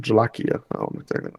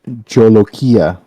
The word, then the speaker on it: jolokia: be northern india oh the jolokia or jalakiya that makes sense it's pronounced jolokia oh hey the guy